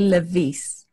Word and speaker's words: Lewies: Do you pronounce it Lewies? Yes, I guess Lewies. The right pronunciation is actually Lewies.